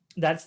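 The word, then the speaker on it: ثاء: Tha, your tongue should come out.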